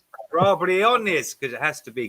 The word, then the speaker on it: Briones: Briones is pronounced. Briones, because it has to be, because it's Latin.